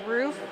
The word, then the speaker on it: Ruf: it so I apologize my last name is rof we get it mispronounced all the time everyone thinks it's rough so a huge sorry